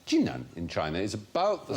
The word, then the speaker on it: Jinan: The city of Qinan, spelt Qinan, but pronounced Jinan in China, is about the same size as